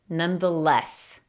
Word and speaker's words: nonetheless: Y la sílaba enfatizada es less. Nonetheless.